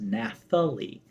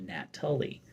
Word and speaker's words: Nathalie: in an odd way most people actually pronounce my name at first at first blush as Nathalie you know pronouncing the th instead of nat Tully um well most of